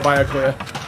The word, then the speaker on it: Byakuya: do our best to find I can never pronounce that name. Byakuya. Yeah, there we go, Byakuya.